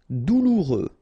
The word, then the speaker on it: douloureux: Douloureux. Remember, final X not pronounced, so you get this OU together.